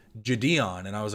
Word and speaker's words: JiDion: Everyone I've heard has always called him Jidion, but then I heard him a few times say Jadeon and I was like, "Oh, that makes sense. There is a capital D that I guess I never noticed."